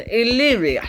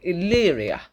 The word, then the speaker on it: Illyria: Correction, Illyria. That's actually how you say it, Illyria.